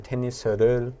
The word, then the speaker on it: 테니스: Okay, so 테니스 칠 거예요 or 테니스를 칠 거예요. 네. And this word tennis, so it becomes, for Korean pronunciation, it becomes 3 syllables. 테니스. Yeah, so we really stress the at 네. the end, 테니스.